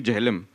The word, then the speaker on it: Jehlum: So because I told them nothing doing, it has to be Jehlum. Because that is how we Kashmiris pronounce it as.